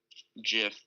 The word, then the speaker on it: GIF: words it stands for the founder or the person who came up with the whole idea itself and said that it was jiff but I'm gonna have